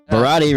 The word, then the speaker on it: Baradi: Baradi rhymes with karate and Maserati.